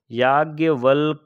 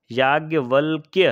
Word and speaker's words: याज्ञवल्क्य: लोग 'यज्ञवल्क' को इस तरह लिखते हैं। यह गलत है। यह याज्ञवल्क्य है।